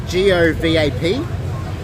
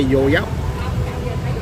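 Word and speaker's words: Gò Vấp: It's if you spell it out, it's Govap. So if you would pronounce it in Aussie, in English, it's like go vap, but we say Yo Yap.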